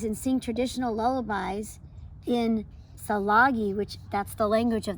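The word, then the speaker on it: Tsalagi: sing traditional lullabies in Salagi, which that's the language of the Cherokee people. So here, let's pronounce it together. Jalagi.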